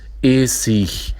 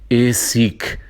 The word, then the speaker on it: Essig: à palavra vinagre e as palavras que terminam em ig, nós pronunciamos Essig, né? Venir, mas em muitos lugares, muitas pessoas da Alemanha, vários professores também, eles dizem Essig, Wenig, 20, né? É um outro modo de pronunciar, como no Brasil muitas